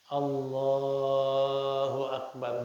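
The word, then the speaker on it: الله أكبر: kita isinya takbir tapi jangan Akbar yang dipanjangin Allahu akbar boleh itu malah sunah kalau Akbarnya haram kalau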